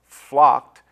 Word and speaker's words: flocked: pronouncing some of these the ending sounds of blessed flocked is pronounced more like a tea than a d pulled control called and